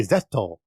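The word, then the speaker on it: ゼット: Actually, in Japan, they say Zetto.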